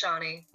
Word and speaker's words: Sharnii: How do you pronounce that? Sharnii? Yep, it's Sharnii.